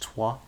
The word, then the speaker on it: Troyes: French League 2 side, pronounced Troyes. That's the French pronunciation, according to my Swedish tutor, who is half French.